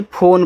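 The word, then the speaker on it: phone: Word है तो देखो लास्ट में जो इ आता है हम उसका उच्चारण नहीं करते हैं।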